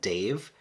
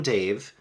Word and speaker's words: Dev: how it's spell Dev but the AUD book narrator calls him Dave so is that how you pronounce it so I'm call him Dave but it does say